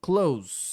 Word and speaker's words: clothes: E a pronúncia é essa mesma, clothes. Igual o close de fechar alguma coisa.